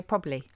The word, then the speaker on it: probably: So this is a process called haplology, where we swallow a syllable, and it's happened for a long time in words like probably. We say probably. Probably do. Or February, we say yeah. February. Yeah. Or secretary, we say secretary. And it's because of ease of pronunciation.